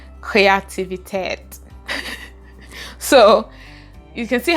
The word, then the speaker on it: Kreativität: And my last word for today is creativity, and you can guess how it is pronounced, Kreativität.